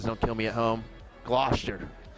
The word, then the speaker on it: Gloucester: Or later on, you can enjoy some greasy pole action because apparently that's a thing in Gloucester I'm learning about.